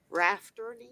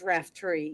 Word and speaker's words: Raftery: pronouncing your name all this time wrong. Rafferty? It's Raftery, yes.